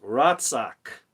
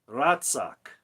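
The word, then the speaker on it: רצח: It's Resh, Zadeh, and Chet. And the way you pronounce it is Ratzak. Ratzak.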